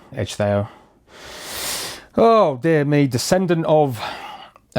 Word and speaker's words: Ecgðeow: I'm pretty sure it's Ecgðeow. When ECH together, it's more like an edge. And then Theo, Ecgðeow.